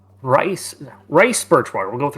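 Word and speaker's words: Rhys: It's pronounced Reese. Oh, of course. My world in my name in my world is pronounced rice rice birchwater.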